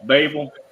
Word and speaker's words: Barberville: Um, and then Barville is Barberville. They leave out four letters when they pronounce it. And um, uh, but yeah. Anyway, Barl, Babel, that's how they pronounce it over there.